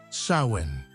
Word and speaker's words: Samhain: pivotal event for them the Festival of swin pronounced sawin this wasn't just a day on the calendar